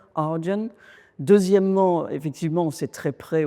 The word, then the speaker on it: Ardian: D'abord, il se prononce très bien en anglais, c'est un peu comme Guardian, Ardian.